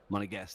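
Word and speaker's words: Monégasque: a guest it's so it's almost like your monaco plus guest plus against a guest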